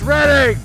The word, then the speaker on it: Reading: It's Reading! Tom from Reading? Yeah. Well, we're Canadian. We pronounce things a little differently.